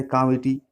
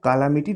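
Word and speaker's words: calamity: जिसका सिनोनिम्स होता है कामिटी, पेरिल, एडवर्सिटी। ठीक है, देखिए इसको कालामिटी नहीं पढ़ेगा, कामिटी पढ़ाता है, इसमें एल साइलेंट हो जाता है, ठीक है। कैमिटी पढ़ेंगे, कैमिटी।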